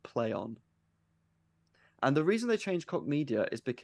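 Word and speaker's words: Plaion: o n um but they're pronouncing it play on and the reason they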